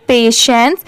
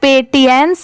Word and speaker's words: patience: ये है patience, PATIENCE, इसे हम क्या प्रोनाउंस करेंगे, पेशेंस। इसे पेटियंस नहीं पढ़ेंगे क्योंकि बहुत सारे लोग इसे ऐसे भी प्रोनाउंस करते हैं, बट नहीं, अगर आप मेरे साथ